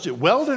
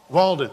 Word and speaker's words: Walden: donkey and walking you to weldon or walden how do you pronounce it walden so you're riding a